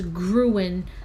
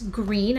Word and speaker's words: Gruene: I thought it was Gruen because it was spelled as Gruene, I think. But it's green. I guess it's pronounced as Green, Texas.